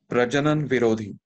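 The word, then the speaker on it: प्रजनन विरोधी: So it is pronounced as Prajanan Virodhi.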